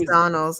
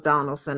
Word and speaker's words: Donalds: be Ras Swami uh definitely it is Donald's I keep calling okay Byron Donald's because you know what's funny is that would anybody be shocked if Donald Trump got his name wrong oh the black guy exactly I totally thought it was donalson I may have tweeted